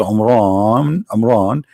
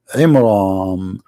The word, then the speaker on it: Imran: pronounced the name wrong, because it's not Amran, it is Imram, which means the last letter is M, not N.